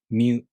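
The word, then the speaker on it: みゅ: To pronounce Myu, the tongue moves from the Mi consonant to the U vowel. Myu.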